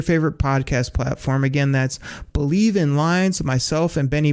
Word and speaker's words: Bleav: That's Believe in Lions. It's spelled BLEAV in Lions on the Believe Podcasting Network, as well as, like I say, reach out to me on Twitter.